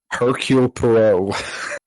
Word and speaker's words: Hercule Poirot: Hercule Poirot.